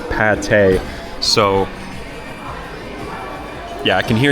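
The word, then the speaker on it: pâté: This is some minced pork, paella. Paya. Okay, I just got word that's pate. I totally butchered that, guys. That is pate.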